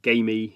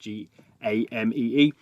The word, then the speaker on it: Gamee: So the company behind it, called Gamee, I think it's how you pronounce it. It's game with another E at the end, Gamee.